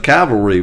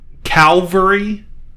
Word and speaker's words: cavalry: notic sometimes they say they pronounce it calvary that's just cuz people are stupid that has bugged me my whole life and I and I